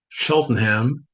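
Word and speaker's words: Cheltenham: Oliver Smith is a visual artist and writer from Sheltonham, UK. Not sure if I pronounced that correctly.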